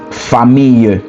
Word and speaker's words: famille: So family, so your family is famille, like Camille.